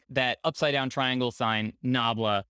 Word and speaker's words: nabla: a little bit to this right there that's pronounced nabla it is an upside down delta i don't